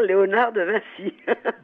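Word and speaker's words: Léonard de Vinci: françaises avec l'exposition de on peut dire encore Léonard de Vincy ou il faut prononcer autrement il faut non il faut dire Léonard de Vincy bon alors c'est un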